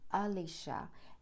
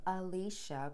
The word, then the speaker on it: Elisha: of alicia and and i say his name alicia pronounced like this because i did some research and discovered there are so many different types of ways to pronounce his name and his mentor's name i finally discovered someone who broke down the hebraic way of why these names should be pronounced as such and it made complete